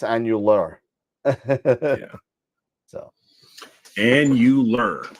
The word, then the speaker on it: annular: it's oh wait it's is it annular yeah you know it's annular it's annual Ann yeah they